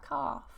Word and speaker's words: calf: Oh yeah, a calf. Silent N. So we have autumn, autumn, dam, dam, column, column, and hymn, hymn.